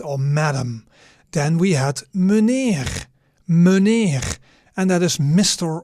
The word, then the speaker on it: meneer: Then we had meneer.